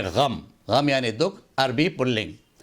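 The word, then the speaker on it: ग़म: इसको आमतौर से गम बोला जाता है, गम ना बोले, इसको बोले गम।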